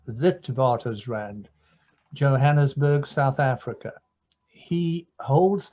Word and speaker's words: Witwatersrand: University of the Witwatersrand, which those of us from that university and medical school pronounce as Witwatersrand, Johannesburg, South Africa.